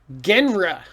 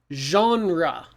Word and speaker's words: genre: you pronounce this word if you look at the letters it looks like genre or gener oh my god don't say that this word is genre oh interesting it looks